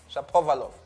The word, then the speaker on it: Shapovalov: Shapovalov.